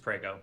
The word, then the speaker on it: Preo: mop on uh how do you pronounce that name preo it's just preo okay PR on Ray